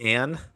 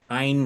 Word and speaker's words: Ayn: would want to worry about, but just the pronunciation. Ein yeah. as opposed to Anne. Ayn Rand.